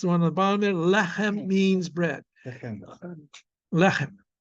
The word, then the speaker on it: lechem: And the last one on the bottom there, lechem means bread. Lechem. Remember, it's the segulet. It has 2 segels. That means the accent is going to be the next to last syllable.